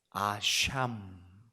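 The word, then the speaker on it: אשם: 오늘 이제 이 레위기에 기록되어 있는 마지막 제사 방법 속건제는 히브리 말로 아샴 이렇게 말합니다.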